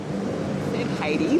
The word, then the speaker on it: Heidi: Heidi, like H-A. Is that just the Australian? No, my mother's from Finland. Okay. And that's how they pronounce it. But it's spelt Heidi, but means hell. Just drop the S, that's how you pronounce it.